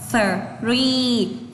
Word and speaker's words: three: Từ này cô không đọc là 3 đâu ạ mà cô đọc là three.